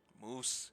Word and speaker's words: Moose: Moose, yes, it rhymes with goose.